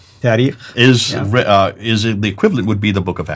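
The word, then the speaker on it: تاريخ: And then the last genre, the tarikh. How do you say it again? Tarikh.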